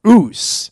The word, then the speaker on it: Osu: thank you whose whose ruse is spelt OSU not spelled how it sounds but if you are